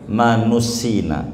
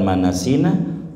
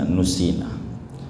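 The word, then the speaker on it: نُسِّينَا: Terus Allahumma dzakirna minhu manusina, yang bagus bukan manasina, manusina. Kata Nabi, jangan ngomong nasina, saya lupa, tapi aku dibuat lupa. Yang bagusnya bacanya jangan wadakirna minhu manasina, tapi yang bagus nusina. Kata Nabi begitu, jangan nasina, nusina.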